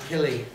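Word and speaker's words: Kili: Killy Philly and Killy they did that in the movie did you notice that in the movie they said Philly and KY uh instead of phy and key we all have said phy and KY since we've little teeny Hobbit readers but no that's not the way Tolen pronounced it it's Philly and Killy now he does say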